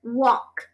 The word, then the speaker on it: walk: all right so walk walk you need to open your mouth okay now now I